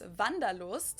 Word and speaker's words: Wanderlust: kind of an oldfashioned German word that we pronounce vandalo and it's literally the desire to wander so